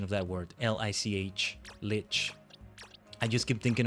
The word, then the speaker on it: Lich: L I C H. Lich. I just keep thinking of Wrath of the Lich King. Lick King is not how I say it.